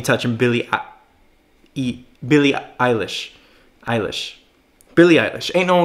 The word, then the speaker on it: Eilish: a video on Billy Eilish in the past that people were all up on me for saying the name wrong it's Billy Eilish right not ela shit's Eilish okay but look